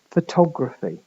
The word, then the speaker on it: photograph: stress Falls in them in photograph the main stress is on the first vow fo and then you've get followed by an unstressed vow to and then a slightly more stressed vow graph okay note fo the